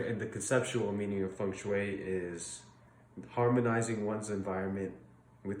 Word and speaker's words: feng shui: So feng shui is spelled like feng shui, but it's pronounced feng shui because Mandarin Chinese has like 5 pronunciations for E.